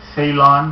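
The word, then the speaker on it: Ceylon: very simple lion Brewery Salon I guess is how you pronounce it I believe that was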